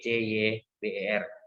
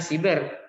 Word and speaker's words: siber: Kalau bahasa Inggrisnya kan pakai huruf C, C-Y-B-E-R, ya kan? Cyber bacanya. Tapi oleh negara kita sudah diindonesiakan. Jadi kalau tulisan siber yang benar itu adalah bahasa Indonesia seperti itu. Media siber. Bacanya siber, bukan cyber.